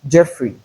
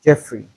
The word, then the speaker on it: Geoffrey: leopard, Leonard, Jeopardy, and Jeffrey. Most times, people mispronounce these words as leopard, Leonard, Jeopardy, and Geoffrey. It is not Joe, but we have the sound in place of the EO.